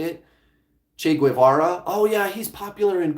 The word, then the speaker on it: Che Guevara: Guevara I think is how you say it Che Guevara oh yeah he's popular and cool yeah Che